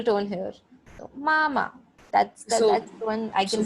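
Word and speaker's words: 妈妈: So if I want to say mother in Chinese, mama, mama. So ma, first tone, ma is the neutral tone here. So mama.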